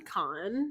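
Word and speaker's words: Kahan: called him like Noah it's spelled k-a-h-a-n so that's what you would think and he like to edit it and was like it's actually Khan that's the only reason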